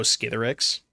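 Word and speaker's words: Skithiryx: Skittles is also hard to pronounce. Oh, Skitherix.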